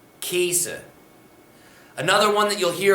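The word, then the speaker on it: gheese: the past participle we get g-h-e-e-s-e that gets pronounced casa casa another one that you'll hear a lot ironically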